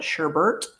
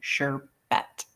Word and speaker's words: sherbet: because many call it Sherbert some call it sherbet and the thing is it's spelled s h RB T sherbet there's no extra R in there at the end sorry they wanted if